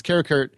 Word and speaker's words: Karakurt: No, it's Karakurt and a.k.a. Jonas Fleming. Michael Massey is the actor that played Karakurt.